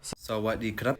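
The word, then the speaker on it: สวัสดีครับ: So to say hello, to greet, and this is hello, goodbye, good evening, you're just going to simply say Sawadee krap.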